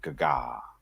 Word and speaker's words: Gaga: That's exactly how you pronounce it. Gaga.